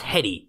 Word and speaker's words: Headey: I think it's pronounced Hetty, if I'm not mistaken.